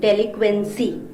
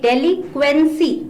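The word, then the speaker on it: delinquency: उसे कहते हैं जुवेनाइल डेलिंक्वेंसी जिसे हम बाल अपराध भी कहते हैं डेलिंक्वेंसी इसमें एन मत भूलिए बोलने में तो हम डेली क्वेंसी बोलते हैं but anus silent here go ashtray का मतलब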